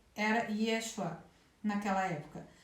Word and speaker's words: Yeshua: nome de J era Yeshua naquela época a maioria das pessoas hoje enfatiza a primeira sílaba desse nome mas aí fazer deveria ser mesmo na segunda e chuá pelo jeito é claro